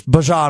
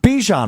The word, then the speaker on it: Bijan: And we're just learning it's Bijan Robinson, not Bijan Robinson. Much like Dijon.